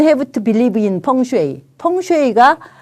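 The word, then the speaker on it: 風水: 펑슈이가 이게 풍수라는 그 중국 그 발음이거든요.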